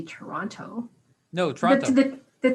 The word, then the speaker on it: Toronto: know that canadians say toronto they don't say that maybe somebody from toronto won't say toronto no trump but the t at the last t is silent it's like toronto toronto